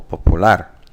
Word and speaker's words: popular: In English, it's popular, so the stress is on the first syllable, whereas in Spanish, it's the last syllable, popular.